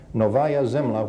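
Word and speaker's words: Novaya Zemlya: one shows and I can't been begin to pronounce that name can you say that for me off the slide Nova zla novaya zla which is an island north of the Soviet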